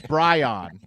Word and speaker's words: Bryon: It is Bry It's Bryon.